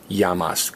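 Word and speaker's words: llamas: their name you sayas even though it's spelled l l m a s you pronounce it yamas yamas may okay I'm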